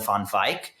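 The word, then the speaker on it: Van Wijk: a Dutchman named Roland Fonfik. Um and this it's spelled like Van Wig JK but light shaping life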